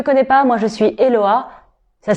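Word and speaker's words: Hehoa: Si tu ne me connais pas, moi je suis Eloa. Ça s'écrit H-E-H-O-A avec deux H et oui, ça se prononce avec un L qui ne s'écrit pas.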